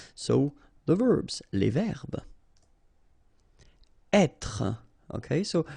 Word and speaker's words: être: Être. Okay, so remember that when you get this accent circonflexe here, you should really pronounce it openly.